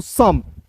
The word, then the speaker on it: some: उसका उच्चारण नहीं करेंगे, तो S का स, M का म हो जाएगा दोस्तों सम, ठीक है।